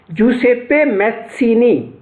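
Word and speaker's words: Giuseppe Mazzini: था, उसका नाम था, ये जो स्पेलिंग है GIUSEPPE, जूसेप्पे मैत्सिनी, ये इसका प्रोनाउंसिएशन है।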